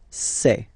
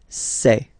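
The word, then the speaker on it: ces: then for the plural form it will be say Okay so let's see that again s or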